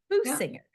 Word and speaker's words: Boosinger: guest today is boinger did I pronounce that right boinger it sounds okay boo singer so it's not really